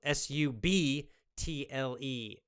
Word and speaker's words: subtle: don't notice immediately subtle su b TL e su b TL e the B is silent subtle noticing subtle beauties